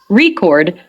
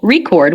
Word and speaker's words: record: syllable banana in contrast the word record has stress on the first syllable record when it's used as a noun but it has stress on the second syllable record when it's used as a verb tip three learn vocabulary